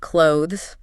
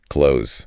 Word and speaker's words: clothes: But native speakers typically reduce it right down to close.